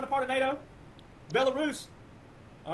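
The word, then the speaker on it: Belarus: a part of NATO he even mispronounced the which he should right the ones Biden people think's real called it belis it's belus all right so belus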